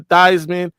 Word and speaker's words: Theismann: Brady, I want you to know, Joe Theismann changed his last name pronunciation from Theismann to Theismann in hopes that it would enhance his Heisman Trophy candidacy.